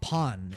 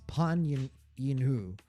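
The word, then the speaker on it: Pan Yinhu: Pan. It's not pan. It's pin yinoo.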